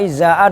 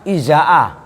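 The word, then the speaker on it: إزاء: Nah yang berikutnya izaa, cara bacanya Alia mana? Jangan tidur. Izaa, ini kan dorof kan gitu kan. Hamzahnya dibaca kasroh, hamzah yang pertama, zainya dibaca fathah.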